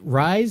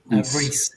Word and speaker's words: Rhys: then we also have is it rise is that how you say it Rees yeah sorry my name and